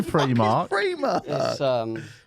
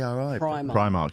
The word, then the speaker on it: Primark: from primark prime mark why'd you say you always say pre-market p-r-e-e is it it's pri primark yeah i think it